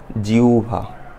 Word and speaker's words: জিহ্বা: মনে করো দেখি জিভা নাকি জিহ্বা না এটা জিউভা এই যে উভ নিচে আছে উভ হবে জিউ